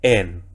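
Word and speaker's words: ἐν: ¿Se debe pronunciar el espíritu suave? No, así que sería en.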